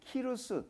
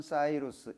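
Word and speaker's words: Cyrus: 설명한 책자가 있어가지고 찍어왔는데, 성경에는 고레스라고 되어 있는데 키루스 또는 사이루스 이렇게 발음을 합니다.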